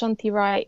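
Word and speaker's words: Shanti Roy: So my it's pronounced Shanti Rai. In the romanization of Bangla, you actually write it R-O-Y, which in English you pronounce Roy, but in Bangla that's Rai.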